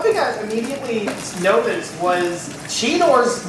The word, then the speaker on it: Cheetor: I immediately noticed was Cheetor's name was being pronounced Cheater. What was up with that? That was strange. Well, because we're Canadian, right? It is, well, it's Cheetor.